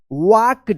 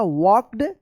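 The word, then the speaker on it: walked: तो देखिए यहां पे इन द मॉर्निंग शाम वाज सॉ a beautiful butterfly and started following it ही वाक्ड। यहां पे एल जो है ना साइलेंट रहेगा। वॉक्ड वॉक्ड पढ़ेंगे वॉक्ड deeper D double E पी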